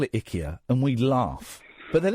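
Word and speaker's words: IKEA: My friends Nan used to call it Ikya and we laugh but then it turns out that's how you pronounce it. Ikya, that's how you pronounce it.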